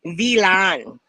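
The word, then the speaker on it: vilain: It is Vilan, like a villain, right? I thought that was hilarious. Milan, Oh, that's Vilan, funny. Milan, Milan, You see who's coming up? Vilan.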